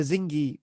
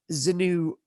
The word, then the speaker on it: Xingu: I was calling it the Zingi people, and then she said it was the Shingi people, and then I thought, right, okay, but it actually turned out the pronunciation is the Zinu people.